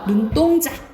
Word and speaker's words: 눈동자: 눈동자 된소리 나죠? 눈동자 이렇게 안 하잖아. 눈동자 이렇게 되지, 그치?